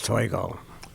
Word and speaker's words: Toigo: name is and my last name is toy go there we go okay